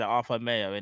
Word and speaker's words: Arthur Melo: No, that's how they kind of pronounce it, Arthur Mayo, innit? But we know it's Melo, but that's how you pronounce it.